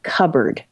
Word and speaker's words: cupboard: We lined up, we went through the words and I had the word cupboard which I was relieved because I knew it had a silent p so I spelled it but I said this c u p b o a r d.